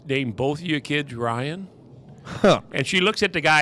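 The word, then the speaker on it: Ryen: So I'm telling him a story about my daughter's name's Ryan. It's spelled R-Y-E-N.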